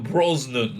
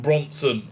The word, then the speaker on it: Brosnan: me because i always chris pierce brock brosnan not bronson i like bronson better